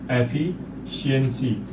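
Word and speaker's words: efficiency: Rule number 5 के according यदि किसी वर्ड में सी के साथ IAL, IAN, IENCY, IENT या फिर IOUS आदि जुड़ा हो तो यहाँ पर सी का जो उच्चारण होता है वो श होता है। तो चलिए इसके कुछ एग्जांपल्स भी हम देख लेते हैं। जैसे ये सारे जो वर्ड्स हैं यहाँ पर सी के साथ IENCY लगा है, तो यहाँ पर जो सी का उच्चारण होगा वो श होगा।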